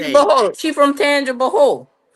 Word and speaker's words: Tangipahoa: Tangipahoa.